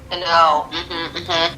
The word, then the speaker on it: Sano: Sano.